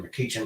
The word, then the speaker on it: McCutchen: Darkness House of light it's uh pronounced Mr mckin but his name was actually Mr McCutchen and he was an